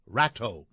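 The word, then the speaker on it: Rato: out the third one Rodrigo rot r a t o might be pronounced in English as ratau in any case he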